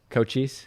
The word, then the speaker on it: Cochise: to do for everyone, but let me it's Cochise? Yeah, Cochise.